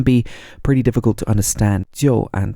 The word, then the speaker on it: 就: So in the simplest usage, this character 就, pronounced in the fourth tone, J-I-U, 就.